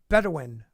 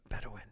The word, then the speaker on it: Bedouin: you e clay thomason here we go it's pronounced better win bedouin bedouin bedouin isn't that from dune in in that